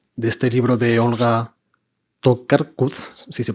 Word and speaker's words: Tokarczuk: Y les cuento esto porque me he acordado, hoy al volver a casa, de este libro de Olga Tokarczuk, si se pronuncia así, Tokarczuk, escritora polaca como Cesari, premio Nobel de literatura,